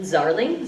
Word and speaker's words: Zarling: Okay, my name's with an H, and Zarling, Z as in zebra, rhymes with darling.